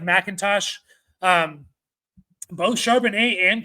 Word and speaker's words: McIntosh: Kenny Macintosh felt like mckintosh I think pronounced like Macintosh um both sharan a